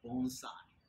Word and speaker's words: bonsai: It's funny how often people mispronounce these terms. You always hear people say, oh, you know, I have a little bonsai tree. Okay? No, it's bonsai.